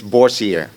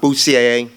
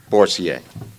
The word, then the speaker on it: Boursier: It's Borsier, not Boussier, not Boucher, not Bocher or Beauregard, Boursier.